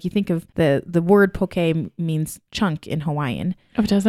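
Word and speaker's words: poké: If you don't know what that is, it's spelled Poke. It looks like poke, but there's a little emphasis sign on the E.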